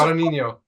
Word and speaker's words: Guadagnino: Pronounce it. Guadagnino.